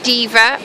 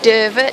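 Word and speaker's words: Deva: It's the ancient Roman city of Diva, or Derva, depending on how you say it.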